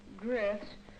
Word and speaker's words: growths: The heavy, tangled undersea growths often... That's a long O, Mike. How do you pronounce O-W? O? Yes. Growths. That's right. Often trap the divers.